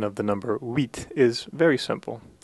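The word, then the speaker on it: huit: pronunciation of the number wheat is very simple it's essentially pronounced like the English word wheat for the grain so as long as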